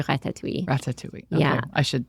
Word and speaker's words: ratatouille: Say how I feel like I say it all in one syllable. My French accent is also terrible, so any native French speakers are going to correct me, but I say ratatouille.